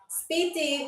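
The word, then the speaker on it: σπίτι: Anyway, speedy means house. It is spelled s p i t i.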